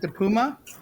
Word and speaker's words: DePuma: Is it DePuma? Yes, you said it right.